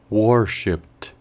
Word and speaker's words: worshipped: una ed, al leerlo, este ed sonaría en su lugar como una T.